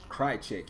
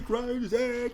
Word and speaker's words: Krycek: Krycek, yeah.